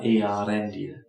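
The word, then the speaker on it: Eärendil: background tend to say the E and A together as a diphthong. But it's really one vowel after the other, Earendil.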